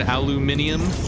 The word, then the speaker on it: aluminium: You never heard aluminium? That's what the Brits say. They just start adding letters to stuff to try to sound more fancy.